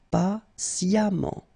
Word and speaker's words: patiemment: patient patiemment récent récemment et on prononce comme s'il y avait un a récemment patiamment merci beaucoup c'était vraiment très